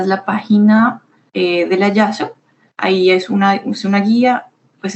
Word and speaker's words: JASSO: Muy bien, entonces la página sugerida es de YASO, que se escribe JASSO, y es precisamente esta agencia, ¿no?, que publica información para los estudios en Japón.